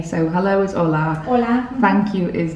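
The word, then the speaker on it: hola: things of how to say so hello is Ola thank you is Gracia Gracia graia um how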